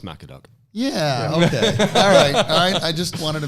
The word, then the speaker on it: MacAD.UK: wrong the whole time is it Mac ad UK no it's Mac a dog yeah I just wanted